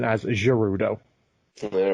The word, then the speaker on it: Gerudo: He was the only male prophesied to rule the Gerudo. Right. which for like almost 20 years now I've been mispronouncing it as Gerudo.